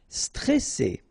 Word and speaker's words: stressé: Stressé. Okay, remember you get double S here, so you pronounce it really strong while it's between two vowels. So C, all right, and then here you get this E before the double S, so it will open the pronunciation of the E. Stressé, stressé.